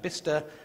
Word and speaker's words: Bicester: In England, we're very strange, so that Bicester becomes Bister, and Cirencester has its